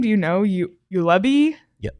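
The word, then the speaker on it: Juolevi: you say his name do you know you you Levy yep you Levy um to Vancouver at five Matthew could chuck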